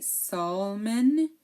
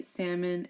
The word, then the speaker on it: salmon: one is salmon okay we do not say Salon okay salmon is um type of